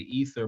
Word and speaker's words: Either: You can find me every Sunday on Apple, Spotify, and Anchor at the Ether Podcast. That is EITHER. We didn't spell it wrong. The I is silent.